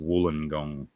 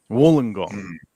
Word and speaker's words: Wollongong: she is saying it phonetically but it is pronounced Wollongong Wollongong got it because it's an Aboriginal word so